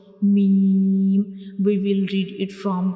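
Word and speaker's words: م: When we pronounce meme, we will read it from the dry part of both of lips, like meme.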